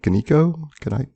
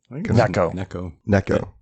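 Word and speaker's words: Gnecco: Is it Ganiko? Necco. Like Necco wafers. Oh, okay. Necco. Oh, and the G is silent, yes.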